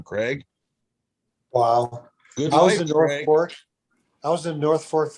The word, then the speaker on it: Norfolk: and the man said that's how you say it norfolk and i looked at it and went norfolk whoa it's norfolk norfolk norfolk exactly you're exactly right and